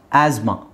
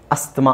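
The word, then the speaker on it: asthma: actually ಅದು ಅಸ್ತಮ ಅಲ್ಲ ಆಸ್ಮಾ ಆಸ್ಮಾ ಅಲ್ಲಿ ಟಿ ಎಚ್ ಸೈಲೆಂಟ್ ಆಗುತ್ತೆ ಟಿ ಸೈಲೆಂಟ್ ಆಗುತ್ತೆ ಅದರ ಜೊತೆಗೆ ಎಚ್ ಸೈಲೆಂಟ್ ಆಗುತ್ತೆ ಸೊ ಆಸ್ ಅದನ್ನ ನಾವು ಝೆಡ್ ಮಾಡಬೇಕು so this is the correct pronunciation of this word ಅಸ್ತ್ಮ ಅಸ್ತ್ಮ ನಾವು ಮಾಡ್ಕೊಂಡಿರೋದು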